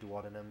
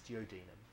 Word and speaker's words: duodenum: of the stomach no closed it's called the duodenum that's the right way to pronounce it i know you want to say duodenum but it's geodenum that's sure all right so it opens up